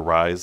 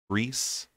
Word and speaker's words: Rysand: So Rysand, or Rise, as I call it, looks like he is more of a Rysand, Reese.